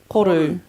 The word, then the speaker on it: Koru: How does one pronounce Koru? Koru.